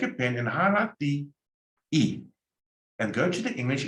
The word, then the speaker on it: y: Now highlight, take a pen and highlight the E, and go to the English and highlight and. You pronounce it E. When you see a Y on its own, it's and, E.